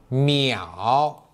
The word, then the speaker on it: 秒: 秒，摸一袄，秒秒，一秒